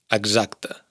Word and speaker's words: exacta: Bueno, aquí deberíamos entrar en matices porque si os fijáis bien, el sonido S de X se ha sonorizado al estar entre vocales. Exacta. Sería más bien una GZ. Exacta.